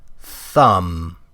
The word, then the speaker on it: thumb: Thumb. Thumb. Where did the B go?